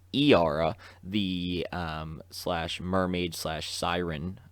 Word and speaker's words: Yara: couple pages uh with yara and i believe her name is pronounced iara the um slash mermaid